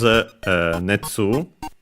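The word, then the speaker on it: 熱: for it, which is netsu. Yes, accented on the second one.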